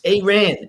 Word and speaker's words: Aaron: It's Aren, Aren. Say it like you spell it.